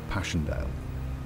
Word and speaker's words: Passchendaele: November 1917, but also because of its unusual and poetic English pronunciation, Passchendaele.